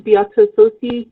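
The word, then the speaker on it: Beata Tsosie: If you could state your name and spell it along with any affiliation. My name is Bata Sosi.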